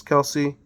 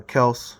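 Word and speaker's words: Kelce: Travis Kelsey uh or Kels however you say it uh I don't know I've heard Kelsey so many times now that's ingrained uh but I do hear that it's actually pronounced Kels um I believe they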